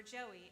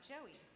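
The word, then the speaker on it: Joie: me an email about Joey. I wasn't sure how to read the name Joey. It's spelled J-O-I-E, because that word is also the French word for joy.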